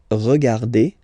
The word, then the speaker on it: regarde: regarde, nous regardons, vous regardez, il regarde, elle regarde. Okay, so one more time here. Regarde, regarde, regarde, and then regarde. So phonetically, only one form here.